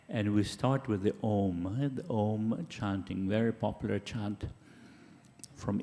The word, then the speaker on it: Om: It's a short O sound and a longer M sound, like So I'll just demonstrate.